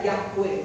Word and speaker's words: Yahweh: Aku adalah aku, bahasa Ibrani itu ya YHWH, pembacanya adalah Yahweh.